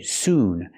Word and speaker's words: soon: We have to say soon. Make the ooh sound like moon. Soon.